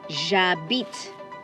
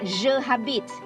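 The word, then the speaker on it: j'habite: the heish is silent please remember the h is silent so you don't say you say ah to leave or to stay now let's read this together okay the first one ja bit ja bit it's not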